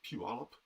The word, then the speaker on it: Puyallup: It's the first thing I learned to pronounce when I got to Washington was Puyallup.